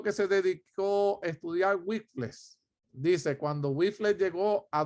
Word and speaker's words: Wycliffe: John Wycliffe. Gracias, Josie, por pronunciármelo.